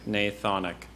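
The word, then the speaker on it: gnathonic: t h n i that's a horrible g at the beginning the silent G now Sai Ria r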